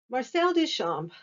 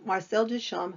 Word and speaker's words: Marcel Duchamp: controversial today and so marcel duchamp who the p is not pronounced you're going to watch video after video where they pronounce them pronounce it marcel duchamp it's not it's marcel duchamp and his work um